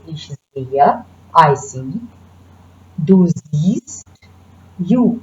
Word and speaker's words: sehe: We do not pronounce H, so you don't say ich sehe. That's wrong. We want to say ich sehe, I see.